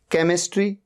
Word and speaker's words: केमिस्ट्री: After सी, सी के बाद एच आ रहा है। केमिस्ट्री, केमिस्ट्री सब्जेक्ट होता है, एच का यहां पर साउंड ही नहीं है।